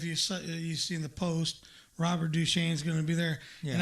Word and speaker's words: Duchesne: Robert Duchesne's going to be there, and I highly suggest people get on your computer, type in Robert Duchesne, the French version, Duchaine.